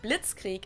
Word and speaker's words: Blitzkrieg: used way before that we pronounce it blitzkrieg in German and it literally translates